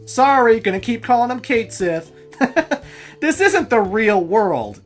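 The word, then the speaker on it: Cait Sith: of Celtic descent and his name is supposed to be pronounced catchy or whatever hey when this game doesn't have voice acting and you play it for over 10 years it's hard to break old habits just because the internet says otherwise I still occasionally call Midgar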